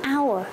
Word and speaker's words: hour: Silence Chính vì thế chúng ta nói là hour khi chúng ta có cụm từ onair Player